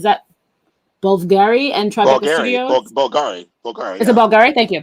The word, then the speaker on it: Bulgari: Bulgari.